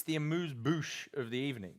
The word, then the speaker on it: amuse-bouche: It's the amuse bouche of the evening.